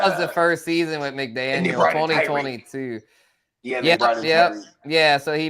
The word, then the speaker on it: McDaniel: They got Josh McDaniels in his in You mean Mike McDaniel? Yeah, they got McDaniel say McDaniels here. Yeah. No relation. Yeah. Well, it's spelled different. McDaniel. Josh is with an S and Mike is with no S. Just McDaniel. It's McDaniel. Yeah.